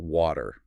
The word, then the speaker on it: water: Something about water. Ah, yes. The classic American water sound, right? It notes that the T often softens to sound more like a D.